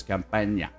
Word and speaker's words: Campagna: While there, he met Chicago mob heavyweights Paul Ricca and Louis Campagna. I'm assuming that's how you say his name because it's spelled like champagne without an H and an A at the end.